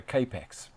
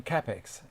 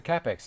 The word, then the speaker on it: Kapex: Australia call it a kapex the germans call it a cap X that's how the rules for pronouncing it are in Germany when in Germany did like the Germans do it's it's a capex as far as I'm